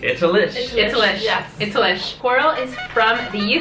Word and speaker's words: Itallish: Did I pronounce it right? Itallish.